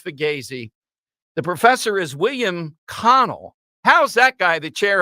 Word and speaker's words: Connell: the professor is William Connell how's that guy the chair of Italian Studies at Seton Hall what's his last name Connell spell it c-o-n-n-e-l-l not cannoli but Connor I need a Professor